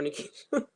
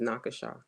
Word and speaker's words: Nika: they was around more Nika I get um call nakasa a lot in my Ubers do I look like my name is nakasha well to be fair